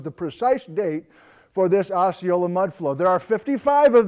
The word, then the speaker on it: Osceola: So it's pronounced Osceola locally, but us folks who don't live in the area call it Osceola.